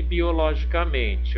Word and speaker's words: biologicamente: Biologicamente, biologicamente, biologicamente, ó, o men, certo? Então, o men aqui é a sílaba, que sílaba? A sílaba tônica, a sílaba mais forte, né?